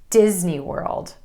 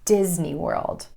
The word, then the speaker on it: Disney World: this pattern, and that's Disney World. Emphasis for this oh so special place falls on the word Disney and the first syllable, Disney World.